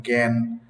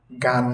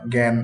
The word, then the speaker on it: জ্ঞান: এইযে আ সংক্রান্ত সূত্র দুই শব্দের শুরুতে যদি গ হয় উচ্চারণ এ এর মত হবে যেমন জ্ঞান গান নয় জ্ঞান এতে একটু এর মত হল না এ কথাগুলো বলা হয়েছে